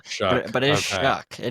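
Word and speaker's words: Shough: Number two, I also have Tyler Shuck, which, by the way, it is spelled Shao Shuh, Shuck.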